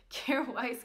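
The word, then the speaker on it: Kjaer Weis: kite kite cure Weiss I finally figured out to say it correctly careful ice cream blush and I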